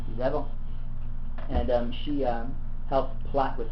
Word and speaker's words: Jezebel: I want to say that's how you say it in English. Jezebel.